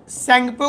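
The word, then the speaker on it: Tsangpo: अब उसका नाम लिख देना कि जिसका नाम इंडो सैंगपो फ्यूचर जोन है। इंडो सैंगपो का स्पेलिंग टी से शुरू होता है, सैंगपो फ्यूचर जोन ITSZ, जहां पर लगेगा कि धागा से सिलाई किया हुआ है दोनों चट्टान।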